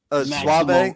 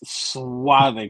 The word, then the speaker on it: Suave: It's spelled like that. So if he's supposed to be Suave, he's got to have that little symbol like this over his E, right?